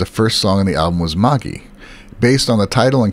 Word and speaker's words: Magie: to check is that when you read magi the accent is on the back right so it' be Magi and Kabal says that's right uh she often gets corrected on that when she says it